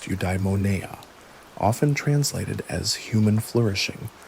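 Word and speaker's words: eudaimonia: The ultimate aim of all stoic practice is the attainment of udeimmonia, pronounced udimona, often translated as human flourishing or living well.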